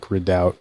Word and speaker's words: redoubt: of the word yeah it's not like re like again it's re like redout right right I just